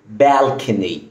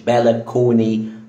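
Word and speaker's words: balcony: اول كلمه معانا وهي كلمه بالكن مش بالكوني بالكن كان مافيش ا مثال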